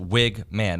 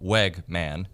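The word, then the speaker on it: Weigman: needs to be said it's Connor wigman pronounced wigman not Wegman MH um and you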